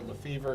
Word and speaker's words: Lefevre: jen lafever who i refuse to call her lefevre because in france they call they pronounce it lefev so that's our little